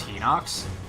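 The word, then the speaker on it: Hinox: is that just a I hate that it's pronounced he knocks because I saw a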